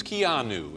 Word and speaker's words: Keanu: I was saying Keanu or something. It's Keanu.